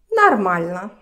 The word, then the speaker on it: нормально: And нормально. Okay. Long word, but it's easy to remember. Нормально. So many pronunciation rules to practice here. First, we see that А is stressed, so pay attention to these two.